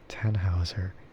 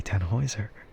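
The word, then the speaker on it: Tannhäuser: And so that's why I kind of thought Tanhouser, but it's not really how you pronounce Tanhouser, is it? So then I had to like reconsider. It's like it has to be Tanheiser.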